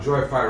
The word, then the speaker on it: joyfy: Now, joyfy rhymes with hi-fi.